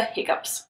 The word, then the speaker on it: hiccough: like anyway, those are hiccups. Some people do spell this word H-I-C-C-U-P because after all, it is pronounced hiccup, up, like up and down.